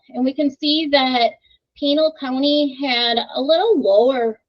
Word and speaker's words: Pinal: And Pinal County, am I saying that right? How do you say it right? Pinal. Pinal? Okay, thank you.